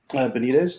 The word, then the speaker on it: Benitez: Benitez, Joe Benitez.